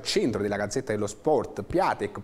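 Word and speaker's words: Piątek: della gazzetta dello sport platek piante si pronuncerebbe sembrerebbe perché è un bomber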